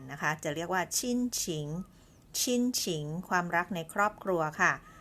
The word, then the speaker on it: 亲情: ค่ะ คือ คำ นี้ นะ คะ อ่าน ว่า ชิ้นฉิง หมาย ถึง ความ รัก ของ คน ใน ครอบครัว